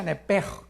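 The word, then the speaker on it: נפש: Neph se pronuncia nepej porque la ch en hebreo es nepeg y la palabra espíritu es roaj.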